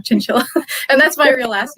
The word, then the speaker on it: Chinchilla: this song because like my last name rhymes with the killer you know chinchilla and that's my real